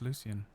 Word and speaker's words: Lucien: Oh, is it Lucian? That's Lucien. Oh my god. Luc L Lucien. Lucy. Yeah. Are you saying it's not pronounced Lucian?